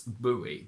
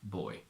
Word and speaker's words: buoy: it also means this I think in American they mainly pronounce it as buoy but here in the UK we mainly say boy more is the opposite